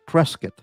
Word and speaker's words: Prescott: The locals in Prescott Valley pronounce it prescuit. Yeah, sure. Oh, like like beef brisket.